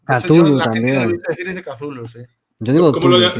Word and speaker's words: Cthulhu: Yo digo Cthulhu, tío, pasa que hay gente que dice Kutulu, Chutulu, yo qué sé. Cthulhu he visto yo. Cthulhu también. La gente dice Cthulhu, sí.